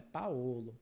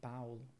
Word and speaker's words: Paulo: pusan é sempre aperto e Paulo se escreve com o mais a gente fala Paulo não é Paolo certo é Paulo moro também né Sempre